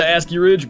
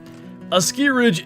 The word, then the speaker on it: Askiy: When I'm like overly hyped, I just go straight into Aski Ridge. But Aki Ridge is the appropriate pronunciation.